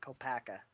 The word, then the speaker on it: Kopaka: Technically, that is how they say it in the movie, Kopaka.